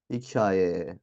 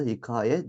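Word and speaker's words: hikâye: hikayedeki k ne yapıyoruz Bunlardan sonra gelen a ve ü ünlülerini üzerine şapkasını koyacağız Dergah hikaye ona göre de okuyacağız arkadaşlar telaffuz da ona göre olacaktır Dergah ya da hikaye demeyeceğiz a'ların ya da uar uzun olduğunu göstermek istiyorsak ne yapacağız şapkasını koyup ona göre okuyacağız Dergah hikaye ya da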